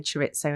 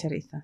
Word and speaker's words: chorizo: I always get told off because I say it wrong. I say chorizo. Chorizo. It's chorizo.